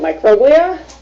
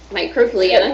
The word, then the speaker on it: microglia: cytokines, and I don't even know how to pronounce it yet. Microglia. Microglia.